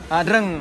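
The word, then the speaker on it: Dr.-Ing.: Eng Dr Eng Mas ya dreng dreng bacanya dreng Oke Eh para pemissa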